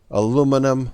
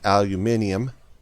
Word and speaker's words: aluminium: you know the main three which is copper aluminum or some people i've heard pronounce it aluminium uh and and cobalt so just going to